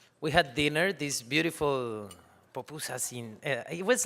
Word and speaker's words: pupusas: So we have these pupusas and we chat for quite a long time. Am I saying it right? Sí, ¿no? Pupusas. Ah, muy bien.